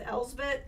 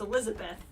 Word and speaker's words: Elizabeth: I keep saying it wrong. I keep going with Elsbeth, which is the chick from Ahsoka. Messing up my ability to say names correctly. Just gotta remember it's Elizabeth without the fifth.